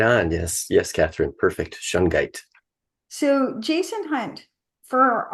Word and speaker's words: shungite: about shite so Jason H did I even pronounce that correctly you're right on yes yes Katherine perfect shungite so Jason hunt for our audience what exactly